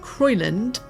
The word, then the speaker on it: Crowland: All this misinformation or fake news was generated in a chronicle from Crowland, although it was often pronounced Croyland, Abbey.